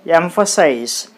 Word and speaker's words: emphasize: There are 3 syllables. So, we need to put the stress on the third syllable from the last. Then, what will be the third syllable from the last? It will be nothing but first syllable. 1, 2, 3, emphasize. So, you put the stress mark on emphasize.